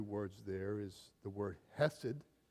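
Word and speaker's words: חסד: And one of my favorite Hebrew words there is the word hessid. I have a hard time pronouncing because you pronounce it with a cough. Hessid. It comes from the back.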